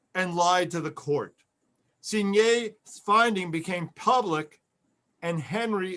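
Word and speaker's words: Cuignet: The new chief investigator, by the name of Louis Signet, it's spelled C-U-I-G-N-E-T, Signet, quickly discovered that Hubert Henry,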